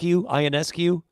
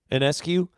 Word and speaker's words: Ionescu: We could name, and I always say her name wrong, Matt, but Sabrina Ionescu. Ionescu.